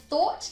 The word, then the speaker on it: thought: put it together again in thought we have the th sound and the o sound and